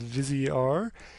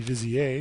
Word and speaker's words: VizieR: is called vizier and i'm assuming that's the correct pronunciation of this because they capitalized the r although i believe this again it was started in france and that should be vizier if i know my french which i don't but